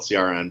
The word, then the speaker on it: Ciaran: So Ciaran is I call it Ciaran, but even in my head I see it as a word. I don't think I even pronounce it the same way twice.